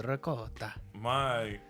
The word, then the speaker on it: ricotta: The ricotta. My trick, My wife is gonna murder you. That's how it's pronounced.